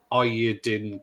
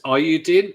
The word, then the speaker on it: Eiyuden: Now I don't know if you two know how to pronounce it, but I'm going to say Eiyuden Chronicle. So it's EIYUDEN. So it's Ayudin.